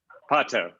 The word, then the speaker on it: Pato: Pato, thank you.